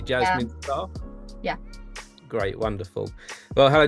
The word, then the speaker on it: Jasmin Starre: songwriter Jasmine star yeah did I did I pronounce that correctly Jasmine star yeah great wonderful well hello Jasmine how are